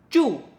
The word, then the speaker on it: 住: "wang2" Our 7th character is: "zhu4".